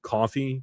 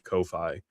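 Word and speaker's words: Ko-fi: I I know it's pronounced coffee, but I always read it as Kofi.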